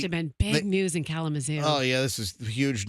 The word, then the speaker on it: Kalamazoo: Kalamazoo. That's how you say it.